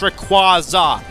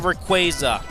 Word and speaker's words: Rayquaza: pretty interesting oh and by the way it's pronounced Rayquaza not Rayquaza I blame that on that stupid PC game